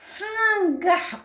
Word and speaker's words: хангах: Хангах. У кого? Хангах. Хангах. Хангах написано. А произносим хангах. Нг. Как бы произносим через нос.